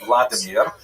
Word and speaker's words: Vladimir: What's uh especially important in its history is the conversion of one of its leaders a deer pronounced in Russian Vladimir uh shown here in a statue overlooking the dipro river that runs through the middle of cave.